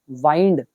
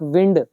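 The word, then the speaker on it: wind: करते हो डोर को एक विंड प्रोनाउंसिएशन में फर्क है यह विंड हो गया नाउन हवा यह है वाइंड वर्ब लपेटना दूसरा वर्ड इसमें याद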